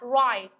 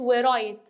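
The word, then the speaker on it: write: عندي كلمه يكتب معناها رايت مش ورايت ماحدش ينطق حرف الدبليو الدبليو بتتكتب بس مش بتتنطق فهنا هقولها رايت يذهب الى المنزل معناها جو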